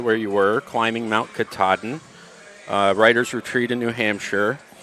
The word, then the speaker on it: Katahdin: Climbing Mount Katahdin. You pronounced it In a correctly.